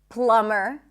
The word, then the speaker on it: plumber: Now here's another pattern to follow. When there is MB, especially at the end of words, the B is not pronounced. So in words like limb, climb, no B, bomb, no B, crumb, plumber, comb, there is no B whatsoever.